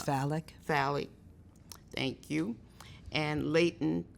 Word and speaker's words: phallic: sucking from the breast or the bottle, anal, phallic, and I'm not even sure if I'm pronouncing that right. I think it's phallic.